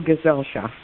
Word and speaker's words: Gesellschaft: welcome to correct me that is correct people gesellschaft and this is a riveting story a really